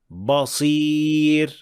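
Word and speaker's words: بصير: Another mistake of the ba is pronouncing it as a heavy full mouth letter when it is followed by a heavy sound. Like in this word, basir, ba, We don't say ba, basir, but we should say ba, basir, basir.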